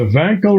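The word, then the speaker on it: Wankel: there you go the vanl rotary engine oo great guess with authority with authority I likeed your pronunciation thank you thank you very much W pronounced as a v that was that was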